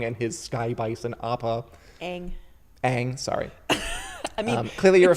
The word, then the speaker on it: Aang: concept art for you there with lead character young and his sky bison Appa Aang Aang sorry clearly you're a fan it should